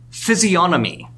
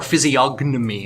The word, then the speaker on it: physiognomy: Let's go to theory 9, physiognomy, or physiognomy if you want to pronounce that G, which I don't.